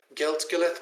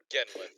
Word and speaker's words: Genlith: Gilleth, correct? Genlith. Genlith, my apologies.